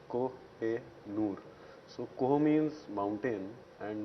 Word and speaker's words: Kohinoor: So this is the original way it is supposed to be pronounced also. It's Koh-e-Noor.